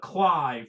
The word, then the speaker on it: Clive: cliff or whatever but Clive which is by the way for those who you don't know it's belt CL I ve ve is it rhymes with five Ryan's book five I